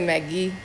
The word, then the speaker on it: Mk.gee: How do you pronounce it? He said Mk.gee.